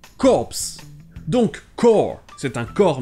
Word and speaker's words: corps: un e à la fin et le pay prononcé cops donc quand c'est un corps militaire et corse